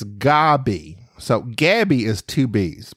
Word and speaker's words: Gaby: spelled my name wrong I only have one B it's g a b y I understand I understand that's that seems to be tle typical but it's it's Gabby so Gabby is two